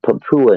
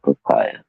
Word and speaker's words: Papua: remember the But it's Papua New Guinea, Rex, not papaya.